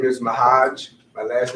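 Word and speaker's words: Ma'Hajj: first last name please my first name is mahaj my last name is at the box and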